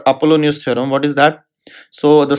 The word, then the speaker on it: Apollonius: there is a special case and that's called Apollonius theorem what is that so the same theorem becomes Apollonius theorem yes Apollonius theorem how do you spell it